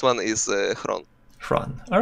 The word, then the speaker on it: Xron: Okay, so originally it's just Xron. It's a word that I just liked the way it sounds. All right. It's like in the Russian language, they're like I don't even know how that food is translated, like Xron or like хронический. I just like the sound Xron, and for some reason I stick to it. And correct pronunciation is Xron.